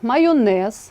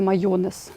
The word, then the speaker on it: майонез: перевіряти за орфографічним словником наприклад майонез а не майонез металургія кулінарія але можна